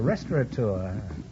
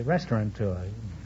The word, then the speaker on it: restaurateur: Oh, a restaurateur. Many people mispronounce it and say restaurateur.